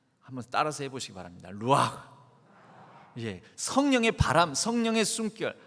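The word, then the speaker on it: רוּחַ: 루 아 아 아 원래 이렇게 그 허스키 약의 그렇게 발음을 해야 된다고 합니다 루와 한번 따라서 해보시기 바랍니다 루와 이제 성령의 바람 성령의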